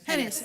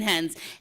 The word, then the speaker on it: Hennis: Hennis, I'm sorry. I keep saying Hens. Hennis. I Sorry. apologize, I pronounced the name wrong.